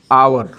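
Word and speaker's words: hour: आवर, हम ऐसा थोड़े है कि हावर इसको बोलेंगे, नहीं, आवर। जब इसका उच्चारण होगा तो आवर होगा।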